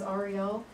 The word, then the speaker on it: Ariel: I guess I'll never forget this, because he said his name was Ariel, not Ariel, because he was a tour guide, not a mermaid.